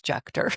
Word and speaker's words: Juechter: You actually gave my last name a a more German pronunciation, but I have to admit my family only says Jucker.